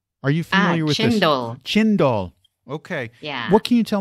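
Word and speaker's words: cendol: read about something called um I think it's pronounced sendall c n d o l are you familiar with this chind doall okay what can you tell me about this so chindo is like Shave Ice uh the key ingredient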